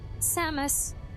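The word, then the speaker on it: Samus: was pronounced exactly how it's spelled. Oh, it's just Samos.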